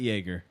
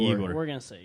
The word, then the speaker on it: Yegor: Not Jaeger. No, yeah, Yegor. Yegor.